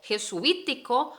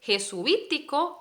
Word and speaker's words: jesuítico: bien de los jesuitas jesuita es una palabra que se habla rapidito este suite una única sílaba pero jesuítico jesuítico hablamos de entonces por separado cada una de las vocales sí sé que es